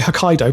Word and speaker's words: Hokkaido: I think it's actually Hokkaido, but anyway.